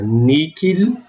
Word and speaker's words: nihil: que é a palavra nada, nihil, que eu posso pronunciar níquil, e a palavra para mim, expressão para mim, que está aqui no dativo, do pronome possessivo, meus.